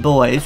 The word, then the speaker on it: Boys: We're doing the AT Boys, which is, it's pronounced boys. Some people put an extra E in there to make it boys or anything.